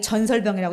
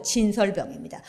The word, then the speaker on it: 진설병: 아까 우리 하진영 양이 전설병이라고 읽었는데 전설병이 아니고 진설병입니다.